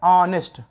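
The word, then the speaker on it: honest: लेकिन बिल्कुल गलत जवाब जब आप इसका हिंदी उच्चारण करू करेंगे तो देखिए यहां पर बड़ा आया है ऑनेस्ट ठीक अब बड़ा आ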